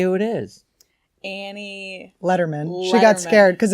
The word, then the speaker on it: Lederman: I'm a natural-born leader I can understand people thinking it's leaderman we pronounce it Letterman but then my dad